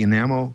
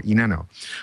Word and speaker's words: Enano: Uh Neil Gumpa is going to talk to us about the ENAMO content management system. I don't know much about that except the name is Enano. Okay. And I said it wrong before. Enano.